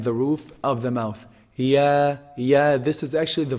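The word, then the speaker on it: ياء: Ya is pronounced from the middle part of the tongue and the roof of the mouth. And the roof of the mouth. Ya, ya.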